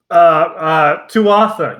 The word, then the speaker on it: Tuatha: So we're just like, Tuatha. Yeah, nailed it. Oh, wait, hold on, no, pronunciation. I think someone says Twaha. I don't think you pronounce the T.